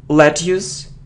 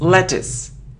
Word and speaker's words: lettuce: mortgage situation okay next it isn't lettus it isn't lettu no it's lettuce lettuce so look at how we pronounce it is the sound e lettuce lettuce okay let's